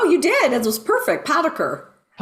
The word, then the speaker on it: Potiker: Um and the pronunciation. Did I get that correct? No, you did. It was perfect. Poder. Poder.